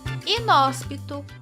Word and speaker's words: inóspito: Inóspito classifica-se como proparoxítona. Palavras proparoxítonas são palavras que t a antepenúltima sílaba da palavra como sílaba tônica.